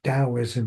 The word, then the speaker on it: Taoism: a foundational document for Taoism. This is basically equivalent to the Bible for Taoists. They pronounce it Taoism even though it's a T.